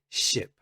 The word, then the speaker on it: ship: chip the second one ship also pay attention to this letter here the letter i is pronounced e so this is ip it's not eep it's ip if you think about